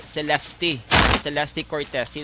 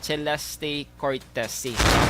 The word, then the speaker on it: Celeste Cortesi: nga preview sa maghambal Celeste Cortesi. Amo na siya ang pag-pronounce pero naibaluan naton nga ang pag-pronounce gali is Celeste Cortesi.